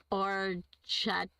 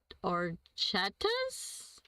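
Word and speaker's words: orecchiette: Now we got orchat orettas or chetta. I don't know how to pronounce that Nancy. I love it. William, welcome. Welcome. Defer to Phil. The ch sounds like a K.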